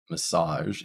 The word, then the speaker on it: massage: Sage is our stressed syllable. So even though we have an A in our word massage, it is still pronounced with the schwa, massage, massage.